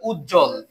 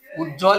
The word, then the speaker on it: উজ্জ্বল: আমরা আগে মধ্যটা দেখেছি উজ্জ্বল উজ্জ্বল এখানে কিন্তু ব আছে মধ্যে তাই এর উচ্চারণ হবে না আমরা বফটা কেটে দিয়ে